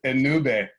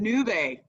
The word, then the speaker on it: Ennube: start with you first just in case i mispronounced the name of your business no worries it's a new bay and new bay got it awesome yeah well great to see